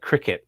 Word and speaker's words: Cricut: to mention is the cricket, or the cray cut, or whatever you call it. It's have you seen those things, Steve? The which? Sorry. It's called a cricket, or it's spelled cry cut, CRICUT.